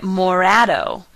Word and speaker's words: morado: on a black wall take out the sh from more Shadow and you get Morado sounds almost like Morado purple so think of